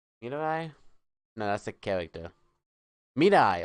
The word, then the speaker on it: Mirai: Mirai, okay. Mirai. That's how it's pronounced.